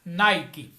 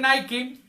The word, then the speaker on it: Nike: Ese nombre Nike está mal pronunciado porque es una palabra griega. No es japonesa ni finlandesa. Nike es la palabra griega Nike.